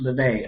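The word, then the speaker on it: Livvy: looks familiar um okay it's spelled l i v v y but it's pronounced levy okay so for all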